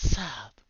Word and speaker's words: Saab: So it's Sab.